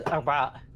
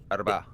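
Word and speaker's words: أربعاء: Wednesday is Arba'a. Arba'a. Can you spell it? You don't have a letter for A. A is like from down your throat, like A. Ah.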